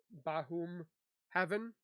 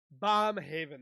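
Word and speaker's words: Baumhover: and stuff to uh detective bahom Heaven I am butchering that how do you say that bomb Haven that's what how you pronounce it it's pretty sad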